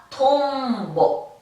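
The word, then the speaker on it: とんぼ: 자, 미음 발음이라고 했습니다. 톰보, 톰보, 톰보. 잠자리가 됩니다.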